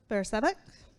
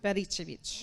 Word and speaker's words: Bericevic: Bersevic. I'm hoping I pronounced. I'm sorry if I didn't pronounce that right. How do you pronounce it? Bericevic.